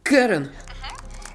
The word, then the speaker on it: Кэрон: Кэрон. Ударение на первую А или на последнюю Е? Первую, как Кэрон.